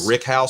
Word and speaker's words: rick house: It's pronounced either rick house or rack house because it's racks of bourbon or ricks, depending upon which part of the country you come from.